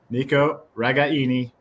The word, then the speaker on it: Nico Ragaini: family so uh yeah the authentic Italian pronounced pronunciation Nico ragaini that's what it is he's not bothered by